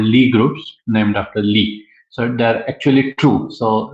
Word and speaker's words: Lie: But the main thing I wanted to correct is that Lie is the name of a mathematician. Pronunciation is Lee. So Sophus Lee was a mathematician who contributed to this subject of symmetry and group theory in broader aspect.